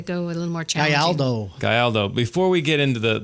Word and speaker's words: Gayaldo: Gayaldo. Gayaldo. I even tried spelling it out phonetically and I did it wrong.